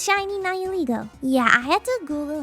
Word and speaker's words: Nihilego: It's shiny Nihilego. Yeah, I had to Google how to pronounce it. It's Nihilego.